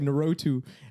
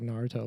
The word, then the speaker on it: Naruto: like it's not no he goes like narotu and then it's like bro it's like Naruto like you if you